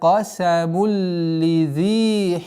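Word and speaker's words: قَسَمٌ لِّذِي: Обратите внимание, здесь у нас правило идгам без назализации. Назализируется, точнее, ассимилируется вот это второй танвин. Первый мим с огласовкой дамма нужно до конца четко произносить.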